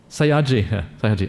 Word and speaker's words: Sayagyi: Is it how do you pronounce that? Sayagyi? Sayagyi.